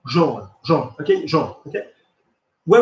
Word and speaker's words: jaune: Rhymes with born, jaune.